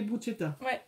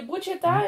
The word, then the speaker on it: bruschetta: Donc ça s'écrit bruschetta, Benjamin, hein, mais ça se dit bruschetta.